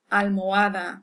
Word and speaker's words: almohada: So when you see an H, you can pretty much ignore it as far as pronunciation is concerned. So, hola, hombre, almohada, which means man, hombre, and almohada is pillow.